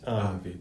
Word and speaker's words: Vite: Tools like Vite, I think it's pronounced Vite, Vite. V-I-T-E, right?